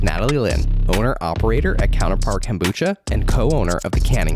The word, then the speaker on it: kombucha: So it is kombucha, but I've heard just about every variation possible of that word, and whatever you call it, it doesn't matter. It's all the same.